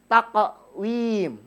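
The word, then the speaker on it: تَقْوِيم: Yang terakhir di ayat di terakhir itu taqwim. Taqwim, memantul. Oke.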